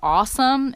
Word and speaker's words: Aosom: our dog anyway the brand name for this trailer is awesome and that's spelled a o oom it's a lot cheaper